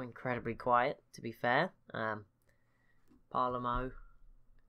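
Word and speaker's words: Palermo: quiet to be fair parla mo there you go I said it right and I said it wrong a few episodes ago so there you go it is parlor mo which I believe is pretty accurate if I'm not mistaken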